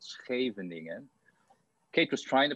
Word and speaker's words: Scheveningen: of this town and only the dutch can actually pronounce it correctly and if you if